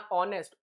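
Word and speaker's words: honest: तो यहां ऑनेस्ट ओ का साउंड आ रहा है। ऑनेस्ट it will be एन।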